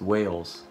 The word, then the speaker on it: Wales: reaction cam walls at actually it's cam wall no no no not walls it's whales i think it's whales you guys have pointed that out that i've been pronouncing it wrong which i guess makes